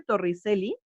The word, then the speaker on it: Torricelli: Aunque se escribe Torricelli, se pronuncia Torricelli, como si esta fuera una che.